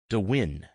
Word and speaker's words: Dwin: Dwin, pronounced with the accent on the second syllable, though not everyone got it right.